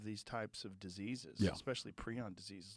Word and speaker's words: prion: he's like we'll call it this and we'll pronounce it this way okay so it's preon it's now I'm now I'm trying to I